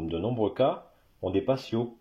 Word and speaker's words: patio: un patio c'est un patio le T se prononce t en espagnol voilà aussi aussi surprenant